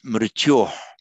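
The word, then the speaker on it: मृत्योर्: You've seen it ending in or, and you've seen it ending in o. It's because when you're pronouncing the word in isolation, no word is allowed to end in isolation in a ra or a sa in Sanskrit. It changes to this visarga, the subdotted H.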